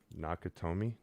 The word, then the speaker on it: Nakatomi: Nakatomi.